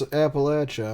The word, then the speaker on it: Appalachia: say it it's just you don't pronounce Appalachia I'm gonna throw an Apple at you you know what Arkansas